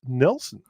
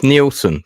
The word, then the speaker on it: Nielsen: here so let's bring him on uh Nelson are you there I am it's pronounced neelson the Danish neon I'll put my camera on